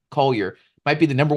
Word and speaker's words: Collier: I think Isaiah Carwell, as I pronounce his name, should be Collier, might be the number 1 pick.